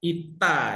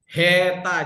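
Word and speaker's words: ήτα: Nah, ini juga ita ya. Ini kalau di Sekolah Teologi Indonesia dibaca heta jadi h. Ini ita ya.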